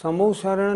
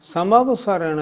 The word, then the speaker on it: समवशरण: पहली बात तीर्थंकर भगवान की जो सभा लगती है उसका नाम समोशरण नहीं समवशरण है।